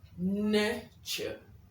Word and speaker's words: nurture: Today we are contrasting those two words with the word nurture. I'll say that again. Nurture. Now the UR in NURTURE gives you the long sound.